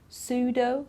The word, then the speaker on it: pseudo: We don't pronounce the P in psychology, psychiatrist, pseudo, okay, so we don't pronounce the P at all.